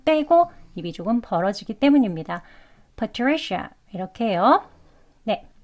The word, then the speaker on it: Patricia: 그렇게 발음을 하셔야 합니다 그냥 처음부터 파리시 샤 아 소리로 하시면 안 돼요 아 아 하면서 힘을